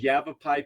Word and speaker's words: Yavapai: do you pronounce that well the way you pronounce it is Yavapai point and geologic Museum now a lot of